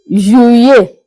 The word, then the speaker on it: juillet: In French, listen very attentively. Juillet. Juillet. That's the double L. In the middle, we pronounce the double L. You pronounce the double S as if we are pronouncing Y, letter Y.